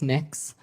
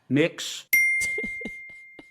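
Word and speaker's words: Mx: It's pronounced Mix. Mix.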